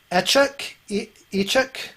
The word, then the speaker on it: Echuk: And then I see Echuk. How do you say your name? It's Echuk, just Echuk. Chuck.